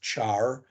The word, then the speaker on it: char: that these things they look weird they're actually pronounced Char varchar n Char and n varchar a field